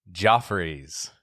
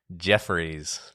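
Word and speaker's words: Geoffrey's: Number one, the fancy restaurant on the Pacific Coast Highway is actually pronounced Joffrey's, not Jeffrey's, because being fancy I'm sure Jeffries was just too pedestrian.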